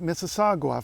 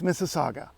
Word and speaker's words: Mississauga: cross this Creek Mississauga some Americans visiting town tend to think that it's mississagua for their own reasons and I can guess why but no it's Mississauga and I'm going to